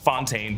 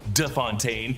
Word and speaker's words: de Fontaine: Val corrects Congressman Gary on the pronunciation of her name. It's not Fontaine, but De Fontaine, and mentions the Secretary of Defense as Anderson.